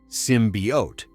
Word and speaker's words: symbiote: The February 2018 teaser got slammed for not showing Venom and mispronouncing symbiot as symbiote. It's symbiote. They fixed it fast.